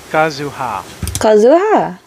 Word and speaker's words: Kazuha: Kazuha. I'm upset. I was told I'm saying it wrong, so what? Kazuha. What's okay, so I am saying it right.